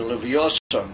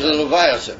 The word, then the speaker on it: Leviathan: There's going to be the Leviosan, how do you call it, how do you say Leviosan? The Wim? Whale? No. Leviathan, whatever that means.